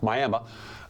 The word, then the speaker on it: Miami: Number 10, Miami. Well, that's how they say it in the South, Miami.